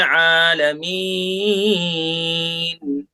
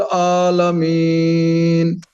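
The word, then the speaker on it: العالمين: अल्हम्दुलिल्लाहि रब्बिल आलमीन। आलमीन। आइन आलमीन। आइन निकालना सही से, आलमीन।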